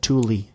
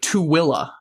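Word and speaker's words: Tooele: So, it's actually Tilla. Oh, isn't that would have gotten that in a million years. Tilla Tilla County.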